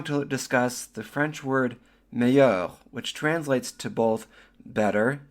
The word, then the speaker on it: meilleur: The word meilleur in French is spelled M-E-I-L-L-E-U-R. The L's are silent, and the M-E-I sounds like A, and the E-U-R sounds like eur. So when we put it all together, we get meilleur.